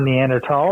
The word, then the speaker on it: Neanderthal: of the Neanderthals uh or neander tal I guess it depends on my when you went to school on how you say it now but uh yeah